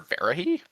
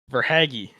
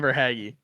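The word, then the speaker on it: Verhaeghe: Um, can I take Carter Verah? Carter Haggy. If you could say his name right, I'd think about giving him to you. But say his name right. Carter Vhaggy. Verhaggy.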